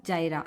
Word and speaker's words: Jira: request or jira tickets jira or jaira like uh this is how the spelling is but uh different themes pronounce it as a different uh ways so you will get